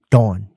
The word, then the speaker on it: Dawn: Dawn. D-A-W-N. Dawn. You got to say it like that too.